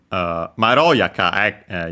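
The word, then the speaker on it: まろやか: Also, Maroyaka, yeah, this one actually, as the ro, as mentioned, accent on the ro, third to last, as it, because it's an adjective ending in yaka, and so that's actually how those are accented.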